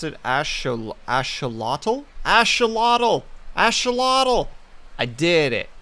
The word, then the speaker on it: axolotl: Okay, so you pronounce it axolotl?